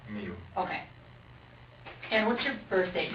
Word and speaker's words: Miu: M I U. How do you spell or how do you pronounce that? Mu.